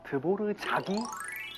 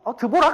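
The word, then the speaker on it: Dvořák: 그래서 우리가 흔히 아는 작곡가 드보르자기 R만 쓰는 겁니다. 우리는 그냥 흔히 드보락 아닌가? 라고 하는 그런 단어도 드보르자기 됩니다.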